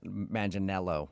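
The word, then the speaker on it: Manganiello: Uh, because we talked to him and he told us that a lot of people say he looks like Joe Mangel Maninello, right?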